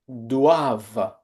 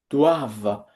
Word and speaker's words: doivent: Please do not pronounce this ENT at the end of the verbs. They are silent.